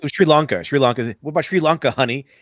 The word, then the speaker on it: Sri Lanka: The first person who says Sri Lanka pronounces it wrong. I forget who it was. They're like Sri Lanka, and he's like, and then he corrects them afterwards. Like, you mean like basically he's like Sri Lanka doesn't affect you.